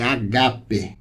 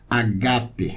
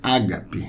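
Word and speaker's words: ἀγάπη: A pronúncia correta é agape, tá bom? O som acentuado é o do segundo alfa. Agape. A gente costuma dizer ágape, né?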